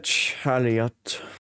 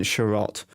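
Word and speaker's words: Chiarot: Chariot. As I said Chariot, I meant Sharot. It's just how his name is pronounced.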